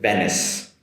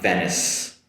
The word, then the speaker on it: Venice: Now I'll stay in Italy with Venice Venice Venice. It ends with a “sss” sound. Venice Venice and the next